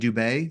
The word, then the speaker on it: Dubé: Your co-authors are Mark O'Donnell and CJ Dubé. Did I get that right, pronunciation?